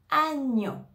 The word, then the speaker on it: agneau: a et le U c'est le son o donc je vais dire a ane agneau on va prononcer tout ensemble agneau Agnon agnau par exemple